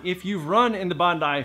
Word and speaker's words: Bondi: of you watching this that just said it's pronounced Bondi you douche it's not it's pronounced Bondi I promise now this is also one of